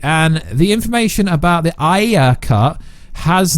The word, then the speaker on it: Ayer: Man of Steel 2 will be produced, written, and directed by Zack Snyder in association with David Ayer, or Ayer as you Americans say.